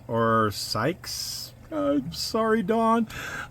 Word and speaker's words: Sielkes: So I think that's Silks or Sykes. I'm sorry, Dawn. It's one of those names I can't figure out how to pronounce properly. But anyway, it's like Silks Classic Garage. Now, it's pronounced like silky.